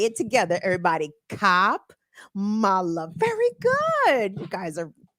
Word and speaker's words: Kamala: Trump or Kamala Harris K Mala I'm sorry for the mispronunciation cop Mala the only pronunciation is that's acceptable around here I mean I know I mean people have different accents and Regional dialects over here on in BW KB land it's cop Mala say it together everybody